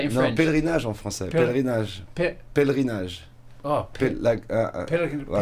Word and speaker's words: pèlerinage: Pèlerinage en français. Pèlerinage. Pèlerinage. Oh, pèlerinage. Oh, pèlerinage. Oh my goodness me, I'm going to have to practice that. You've been here for a while, it'll come eventually. Pèlerinage.